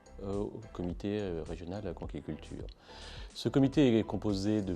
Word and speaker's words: conchyliculture: La vraie prononciation, c'est conchyliculture parce que nous venons d'une racine grecque.